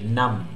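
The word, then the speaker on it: numb: हैं, इट नम्स automatically, नम। अच्छा, B silent होता है बाबू, तो इसको हम क्या बोलते हैं, नम, इट नम्स, my hands are नम, हाथ क्या हो गए, शून्य।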